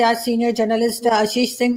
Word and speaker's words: Ashish: Thank you so much कि आपने join किया आशीष। क्या आप अभी कुछ लोग लिखना शुरू करेंगे कि मैं आपके नाम की प्रोनाउंसिएशन ठीक नहीं कर रही, तो मुझे पहले